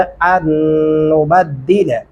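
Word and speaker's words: أَن نُّبَدِّلَ: अन्नुबद्दिला अमसालकुम, यहाँ पे भी लाम के ऊपर एक गलती हो रही होती है, वो कौन सी है, अन्नुबद्दिला अमसालकुम। बद्दिला लाम को खींचने की कोई वजह नहीं है हमारे पास, तो फिर आप क्यों लंबा करते हैं, इन चीज़ों का ख़ास ध्यान रखिए।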